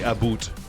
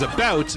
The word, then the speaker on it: about: in Canada possibly, but no one from Canada would say aboot. That's just not a correct way to say the word. What we do say is about, but the way we say about like sounds different to you.